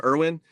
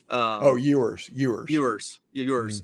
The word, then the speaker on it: Ewers: I mean, Alabama last year was fortunate to have how do you say his last name, Irwin, get hurt, because if he hadn't, Alabama would have lost that game. Ewers.